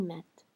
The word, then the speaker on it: mettent: So here, I have the ENT that's making me pronounce the T's, certainly, but also the fact that I have a double T. As soon as I have a double T, I'm going to pronounce it, right?